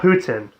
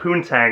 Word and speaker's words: poutine: It's called Putin. Putin. Okay, like President. But I will say this though, a lot of individuals call it poontang, and I'm like, are you sure you're eating fries, gravy, and cheese?